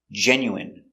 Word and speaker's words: genuine: with i n e we pronounce them all the same in in remember medicine margarine intestine or intestines more than one genuine famine remember it's countable